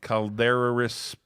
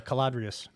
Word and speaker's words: Caladrius: the next screen here i can't even pronounce the name calderaris biosciences it's uh caladrius yeah whatever clbs caladrius